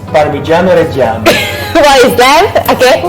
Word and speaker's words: Parmigiano Reggiano: It's Parmigiano Reggiano. What is that? Okay.